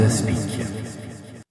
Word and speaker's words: Aspic: Moi si alors j'ai lu ce livre Miracle à la combos aspich. C'est comme ça que ça se prononce d'après ce que j'ai compris en Croate.